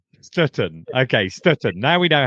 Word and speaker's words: Stöten: Is it Stutton? It's no sh at the front. It's just Stutton. Stutton.